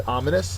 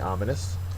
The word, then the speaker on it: ominous: is diffident next is ominous and these clouds would be definitely be ominous uh ominous is an adjective first syllables accented it is unfavorable threatening